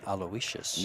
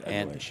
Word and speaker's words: Aloysius: People keep telling me that you pronounce it Aloysius. No, it's Aloysius.